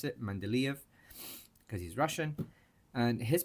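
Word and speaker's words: Mendeleev: In Mandelv's periodic table, that's how you pronounce it, Mandelv because he's Russian.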